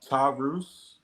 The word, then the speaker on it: Tarus: Uh, Tarus. Tarus. Okay. I just want to make sure. So, real quick, Tar. My my my last name is and spelled backwards is pronounced Tarus.